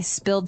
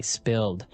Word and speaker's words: spill: So I spilled some milk. Okay, spilled. Now, it's pronounced differently from spell, right? That's right. It has spill. an I, spilled.